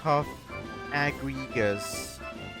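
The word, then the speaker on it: Cofagrigus: Tip says, for what it's worth, the English anime pronounces as cough agrigas.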